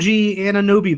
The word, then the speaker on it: Anunoby: And I'm on that OG Anunoby bandwagon. I know that's not how you say his name.